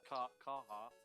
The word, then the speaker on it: Carhartt: It's called Carhartt. Is how it's pronounced.